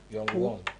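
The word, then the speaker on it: Young-gwon: Ima, what's the pronunciation of this one? Young-Won.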